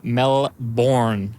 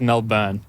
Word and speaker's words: Melbourne: from I am from melbourn Australia hell yeah is that like the capital is that a thing out there yeah but I sa the American way it's actually pronounced melburn but yeah it's it's